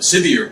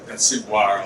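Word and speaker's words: Siviour: We're the owners of the Sevier project, not Ciboire, although it's spelled the French way.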